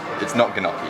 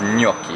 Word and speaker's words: gnocchi: It's not gnocchi. No. It's gnocchi. You have to use the hands too.